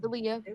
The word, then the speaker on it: Aaliyah: Elia Ryan was just saying a bunch of things to the It's Aaliyah. president. Get it right. It's Aaliyah.